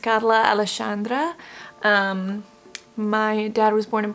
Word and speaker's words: Carla Alexandra: It's pronounced Carla Alexandra.